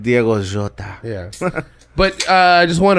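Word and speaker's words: Diogo Jota: in instead of him i love how the english say his name diego jodah well i think it is jota isn't it it's like diego jota yeah but i just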